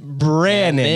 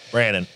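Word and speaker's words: Brannen: Brandon. Let me spell it for you. Yeah. B-R-A-N-N-E-N for all those listening. Brandon.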